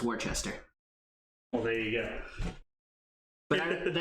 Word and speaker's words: Worcester: But the actual city that it's named after is pronounced Worcester.